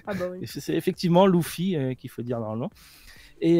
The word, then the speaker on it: Luffy: En gros, pour l'anniversaire de Luffy, en même temps, ils ont mis une petite vidéo de l'acteur principal qui joue Luffy qui disait on prononce Luffy et pas Luffy.